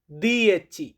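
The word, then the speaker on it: dieci: 10 এটাকে ইতালিয়ান ভাষাতে বলা হয় দিয়েচি।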